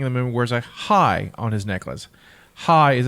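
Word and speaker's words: חי: the movie wears a hi on his necklace. Hi is a Hebrew word meaning with a symbol that means life, and it's pronounced as if you were saying hi.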